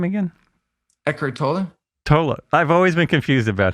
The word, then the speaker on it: Tolle: One, how did you pronounce Eckhart's name again? Eckhart Tolle. Tolle.